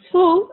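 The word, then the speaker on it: הוא: in female and we have he which is pronounced who and she which is pronounced he and here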